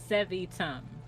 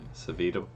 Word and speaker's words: Sevitum: Pronunciation key, Sevitum. Sevitum, Oh, hopefully. Sevitum. Savitum. Sevitum. We're a no on that, right? We're all no on that? Yeah. Yeah. No on Savitum, no on destruction being the Pale Knight.